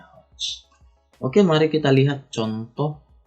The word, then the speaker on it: hertz: Oke, bacanya hertz.